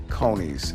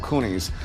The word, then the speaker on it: Coney: They're called conies, or if you want to mispronounce them, you can call them coonies.